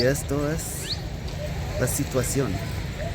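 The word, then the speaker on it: مصر: Misr.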